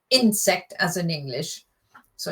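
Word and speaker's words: Insekt: It's it's the emphasis is on insect, not insect as in English. So it's insect. Vasa is insect. So the emphasis is on the second syllable.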